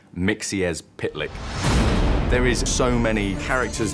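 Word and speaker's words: Mxyzptlk: mythical i can't pronounce it it's one of those tricky ones it's pronounced mixie as pit lick there is so many characters that we've just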